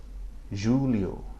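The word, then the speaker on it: Júlio: You can probably imitate that, but think of it that it sounds like the double L-I in the English word million.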